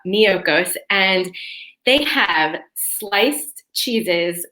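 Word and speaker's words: Miyoko's: this company called miyokos so that's spelled m as in mary i y o k o so almost like mykonos but miocos and they have sliced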